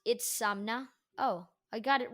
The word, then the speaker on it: Itzamna: calendar to the Mayans, is Itzamna, and it's pronounced Itzamna.